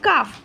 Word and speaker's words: cough: GHটা সাধারণত ঘ উচ্চারণ হয়, কিন্তু এখানে ফ উচ্চারণ হবে, COUGH, কাফ।